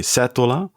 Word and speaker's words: Setola: honest all right well that's very much like Dutch people would pronounce it in Italy they would say seta seta yeah yeah in